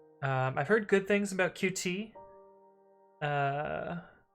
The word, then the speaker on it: Qt: heard good things about qt uh i think it's actually pronounced cute now that i think